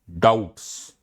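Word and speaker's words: doubt: Law removes all डाउट्स। लॉ सारे डाउट्स remove करता है। अब बी साइलेंट होता है डाउट लिखने में भी। तो बी को साइलेंट ही रहने दो।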